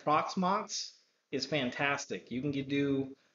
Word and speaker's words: Proxmox: which is an open source proxmox i keep pronouncing that on proximox as well as hyper-v now for a home lab i'm just going to flat out say proxmox is fantastic you can do hyper converge storage